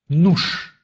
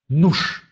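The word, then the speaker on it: nóż: А вот в конце слова он произносится твердо. «Нуш». «Нуш».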